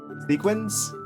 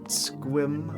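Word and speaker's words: Sequim: There's different ones like sequins? Pronounced squim, a lot of Native American city names.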